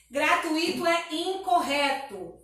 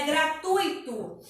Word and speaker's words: gratuito: Gratuito é incorreto, tá? A forma correta, a pronúncia correta é gratuito. O tônico aí é o U e não o I, tá?